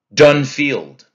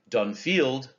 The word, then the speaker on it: Dunfield: Dunfield. Okay, we don't say Dunfield. That'd be a trochee. And we don't say Dunfield. That's an iamb. It's Dunfield. Two equally stressed syllables.